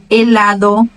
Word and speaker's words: helado: Mas ela não tem som nenhum nas palavras. Onde ela aparecer, o som vai ser mudo. Hola, helado, hijo, hacer, huracán, héroe, hombre.